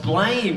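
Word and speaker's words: BLAME!: Blame is a good anime on its own.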